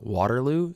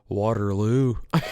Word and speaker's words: Waterloo: So the people there pronounce it differently. We said like Waterloo. They go Waterloo. They put it on the LU.